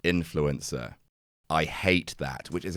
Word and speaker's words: INFLCR: a partnership with INFLCR, which I'm reliably informed is pronounced influencer.